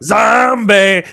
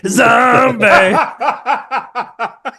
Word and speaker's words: Zombi: To to pronounce it in its original language is Zombie. Zombie. That's Italian. Yeah. And when you do it, you have to let it linger.